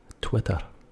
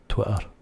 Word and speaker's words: Twitter: end of the word, that T is gone. Forget it. It's a silent T. Twitter. T-W-I-U-R. That's the only way I can spell it out phonetically. Twitter. Twitter. Although by the time you get to where the T should be, it's more abrupt. It's not Twitter, it's Twitter. So the T has been substituted with an abrupt Twitter.